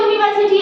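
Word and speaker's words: university: लेकिन उसके साथ में अ यूनिवर्सिटी आएगा।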